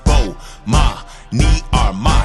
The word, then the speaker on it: Bomani Armah: announcements imma say my name so you can pronounce it oh ma me are my shout out to early visors I see who